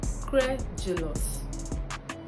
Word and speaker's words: credulous: And it is pronounced as credulous.